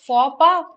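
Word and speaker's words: faux pas: is pronounced as for the x is silent and p the s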